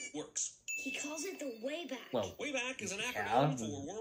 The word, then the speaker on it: WABAC: He calls it the Wayback.